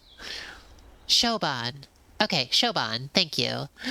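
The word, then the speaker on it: Siobhan: Could somebody tell me how to pronounce It's Shan. Okay, Shoban.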